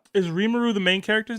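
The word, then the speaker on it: Rimuru: Remaru from Remaru Tempest from Slime.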